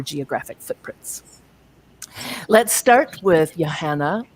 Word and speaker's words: Johanne: Let's start with Johanne, rhymes with banana, or.